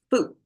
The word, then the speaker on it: foot: to figure out how to pronounce foot, foot versus food. This both are double O's in there, but one is shorter, one is longer.